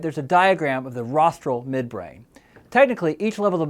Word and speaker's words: rostral: tail or you can remember that rostral rhymes with nostril so the rostral is